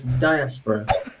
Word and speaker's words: diaspora: to life okay well we pronounce the word first of all diaspora as diaspora okay yeah there we